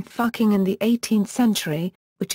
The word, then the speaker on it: Fucking: in the modern spelling Fucking in the 18th century, which is pronounced with the vowel oo as in book.